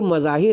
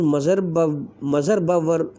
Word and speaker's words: مظہر: گرامی بنا بر مشہور مظاہر ہے، مگر محقق علماء تراجم کی تحقیق یہ کہ اس اسم کا صحیح تلفظ مظہر بر وزن محمد و مظفر ہے۔ ملاحظہ ہو ذخیرۃ